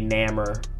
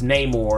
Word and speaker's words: Namor: Someone corrected me on how I say Namor. Like they're like, oh, it's Namor, and I was like, well, whatever, I don't care.